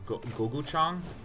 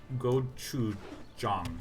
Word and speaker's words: gochujang: Like, goguchang? I should just dip the chicken in that. Gochujang, the red paste.